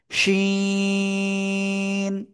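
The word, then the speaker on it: شين: ওই একই জায়গা থেকে, জিহ্বার মাঝখান তার বরাবর উপরে তালুর সাথে লাগিয়ে সা সা শব্দ করে উচ্চারণ করতে হবে এবং তিন আলিফ টেনে পড়তে হবে।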